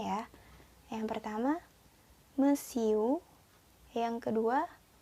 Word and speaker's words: monsieur: Ya, kita ulang lagi pengucapannya ya. Yang pertama, monsieur.